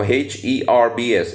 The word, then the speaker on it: herbs: all the B bad herbs at once now h e r BS is the standard pronunciation is herbs and not herbs so it's herbs all